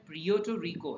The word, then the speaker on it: Puerto Rico: इसकी pronunciation Puerto Rico है, ठीक है।